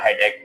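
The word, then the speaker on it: headache: इसी के साथ-साथ यहां पे जो है ना हेड एच भी होता है या हेडक। बहुत से लोग इसे हेड एच प्रोनाउंस करते हैं।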